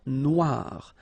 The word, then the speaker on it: Noire: Then here, la mer Noire. Same thing here that we had previously. Final not pronounced, okay? And then OI, remember, wa, noir, noir.